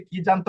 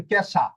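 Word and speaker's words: casa: মনে করেন শব্দটা হচ্ছে কাজা। সি এস এ কাজা। এখানে আপনি কাজা না পড়ে পড়বেন ক্যাশা। ক্যাশা। কোথায় কাজা আর কোথায় কেসা। ইংরেজি উচ্চারণটা চলে আসবে।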